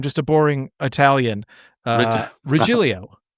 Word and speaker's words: Regilio: Is it Rahilio? Uh I wish I'd get more work. No, I'm just a boring Italian. Uh Rilio.